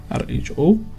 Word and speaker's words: rho: It's a Greek letter called rho, r h o. And it's pronounced rho.